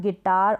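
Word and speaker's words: guitar: के बाद में आई है तो इन सारे स्पेलिंग में यू के बाद में एक और वावेल आया कोई सा भी हो सकता है तो वहां पर यू क्या है साइलेंट है यू का उच्चारण नहीं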